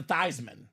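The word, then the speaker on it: Theismann: you over the top let's take that theeman name and change it to thyman so it can be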